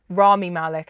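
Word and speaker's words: Rami Malek: other is Ramy Malik Ramy Malik actually is how you say his name he played Freddy Mercury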